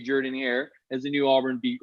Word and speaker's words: Jordan-Hare: By the way, it took me about a month to pronounce Jordan-Hare correctly before an SID pulled me aside and said, look, if you're going to cover the team, stop calling it Jordan-Hare. It's Jordan-Hare.